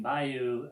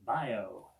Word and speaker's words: bayou: And for this particular song, so that everything would rhyme, instead of pronouncing bayou, bayou, they pronounce it bio.